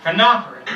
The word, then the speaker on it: phenolphthalein: And it's pronounced phenolphthalein.